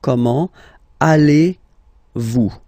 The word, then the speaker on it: comment allez-vous: So the first question, how do you do in French is comment, so how, comment, allez-vous? And then, same thing here, little link between the two.